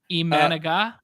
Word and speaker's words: Imanaga: Imanaga?